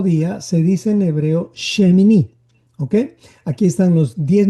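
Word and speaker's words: שמיני: Entonces, dentro de lo que es el orden, el octavo día se dice en hebreo shemini.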